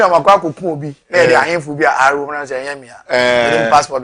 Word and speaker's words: Ahinful: was screen so because my name doesn't have an R. Oh, it's Ahinful.